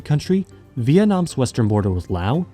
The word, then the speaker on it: Laos: At its narrowest points in the center of the country, Vietnam's western border with Laos, yes it's pronounced Lao, is less than 50 kilometers from the world's most controversial sea.